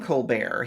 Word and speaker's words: Colbert: His name is spelled Colbert. I don't know why he just doesn't call himself Colbert, but it's Colbear.